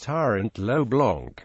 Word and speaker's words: Tirant lo Blanch: in modern valentian is Tyrant L Blanc but it is also referred to by its original spelling Tyrant L Blan where the H is silent influence Tyrant low blanch is one of the